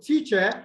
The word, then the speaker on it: teacher: So teacher has the Schwa sound on the second syllable. So that cannot be stressed. So the stress will be on the first syllable.